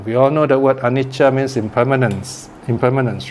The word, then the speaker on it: anicca: Now, we all know the word anicca means impermanence, right? Now, the problem in Sinhalese language, is they think that, okay, you pronounce anicca, so you must spell it with a CH, right?